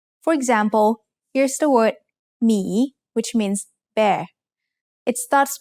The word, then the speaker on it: หมี: So it has to team up with a silent หอหีบ to get the job done. Let's write หมี together.